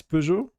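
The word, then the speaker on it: Peugeot: pujo like you know English people say p I think but it's pujo that's how you say it.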